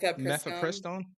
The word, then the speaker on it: mifepristone: pledged to review safety of how do you pronounce that? Mef- Mifepristone. mifepristone?